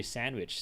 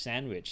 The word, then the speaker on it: sandwich: Let's say the word sandwich, right? So almost nobody pronounces the D. All right, you just drop the D straight away. Sandwich, sandwich, sandwich, right?